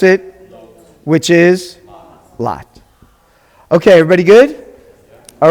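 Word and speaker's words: לוט: And then we've got the Holam Vav, sounds like, we pronounce it, which is Lot.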